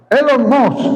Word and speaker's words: Elon Musk: Elon Musk, así se pronuncia.